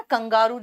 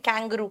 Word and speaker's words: kangaroo: कंगारू जिसको हिंदी में कहते हैं उसको इंग्लिश में कैंगरू कहते हैं। बेसिकली इसको प्रोनाउंसिएशन कैंगरू ही था। जैसे आप लोगों ने डेंगी को डेंगू बना दिया सुन के, और इसमें देख लिया तो कंगारू बोल दिया, जबकि ये कैंगरूस है।